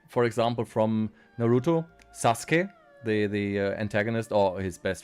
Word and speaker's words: Sasuke: Like, for example, from Naruto, Sasuke, the antagonist or his best friend, either way, is not pronounced Sasuke in German. They call him Sasuke, which sounds incredibly stupid if you know the original pronunciation.